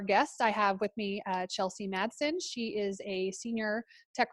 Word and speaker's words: Chelsey Madsen: I have with me Chelsey Madsen. She is a senior tech recruiter over at Netlify. Did I pronounce that right?